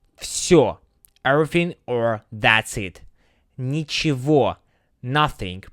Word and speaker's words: Ничего: Ничего, nothing, pronounced with a V sound, not G.